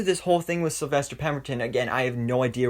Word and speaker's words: Pemberton: of star girls season one was with sylvester potent pam whoa that that yeah sylvester pemberton yeah that's how you say it uh it